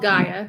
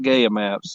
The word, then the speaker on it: Gaia: i'll tell you all about that it's called gaia yeah okay well you know the pronunciations uh like laquinta or la quinta so